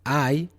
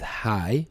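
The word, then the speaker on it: hai: is I have and I is you have and again the H it is written h a i but it is not it is not pronounced as high but I I O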